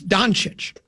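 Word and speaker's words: Dončić: It's Doncic.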